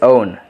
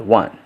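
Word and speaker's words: -one: the suffix into own the pronunciation is own not one so we have here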